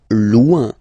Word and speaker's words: loin: Loin, loin. So remember, when you get this combination O-I-N, it's ouin, ouin, ouin, okay?